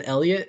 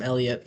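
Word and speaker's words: Heliot: The H in Elliot is silent.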